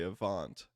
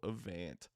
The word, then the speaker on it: Avant: Audi RS6 evant GT that is how you pronounce that by the way Avant a lot of people uh struggle with that go for the old evant um but yeah obviously